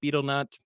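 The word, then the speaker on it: betel nut: And yes, I know it's properly pronounced beetlenut, but we're moving on.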